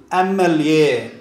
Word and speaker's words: MLA: But here, M is pronounced as vowel, MLA, an MLA. That's why we used an MLA.